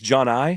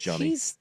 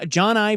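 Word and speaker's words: Johni: Johnny I think it's John I John I it looks like Johnny but it's not pronounced Johnny I think he outside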